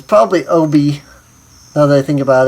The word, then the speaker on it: Oubi: Actually, it's probably Oubi. It's probably Oubi, now that I think about it. Because I is pronounced E in Japanese.